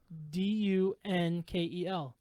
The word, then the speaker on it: Dunkel: Dunkel. Dunkel. It's Dunkel. Yeah, it's Dunkel, man. Dunkel.